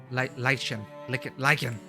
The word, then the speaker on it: lichen: Clouds grow like lichen over the sky. Oh my god, how do you pronounce that?